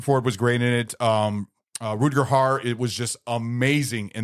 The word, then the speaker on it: Rutger Hauer: How do you pronounce that? Rutger Hauer. Rutger Hauer.